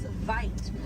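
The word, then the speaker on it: wyd: Original word for white rhino was vite. White means white in Africans, but over time it was misheard and mispronounced and it turned into the white right now.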